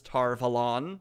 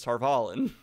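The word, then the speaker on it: Tar Valon: pronounced like the audiobox well the audiobooks aren't consistent sometimes it's tar of holland and sometimes it's tarpaulin so which one do you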